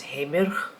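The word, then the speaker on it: Heimir: Okay, I specifically went to a website that tells you how to pronounce it in Icelandic, and it's Heimer.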